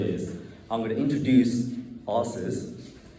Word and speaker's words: AARS: So I'm going to abbreviate it to the official abbreviation, which is AARS, which is pronounced ARS.